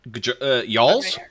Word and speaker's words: jarl: Yarls? I did look up the pronunciation of it, by the way, and it's pronounced Yarl.